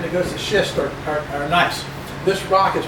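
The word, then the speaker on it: gneiss: goes to schist are nice this rock is pronounced nice even though it's got a big g in there it's pronounced nice and that's what we're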